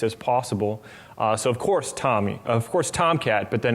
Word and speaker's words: TomEE: out in the middle it's pronounced tommy as in the album or the name or the person uh it's not tom e e it's just tommy and uh then the